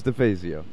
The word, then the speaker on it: DeFazio: Todd and I had this conversation that I have been mispronouncing his last name for 3 months. I was like, what were you saying? DeFazio. I don't know. That sounds right, but it's not. It's DeFazio. That's it.